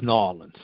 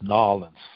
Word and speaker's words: New Orleans: Brian, it's New Orleans. That's how they say it down there, is New Orleans. Now, New Orleans, New Orleans.